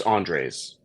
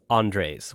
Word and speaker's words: Andres: How do you pronounce that? It's Andres. Andres.